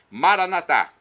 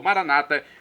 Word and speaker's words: Maranatá: Maranatá, como dizemos nós católicos, ou maranata, como dizem nossos irmãos separados, os evangélicos, os protestantes. Não importa a pronúncia, o significado, é o mesmo.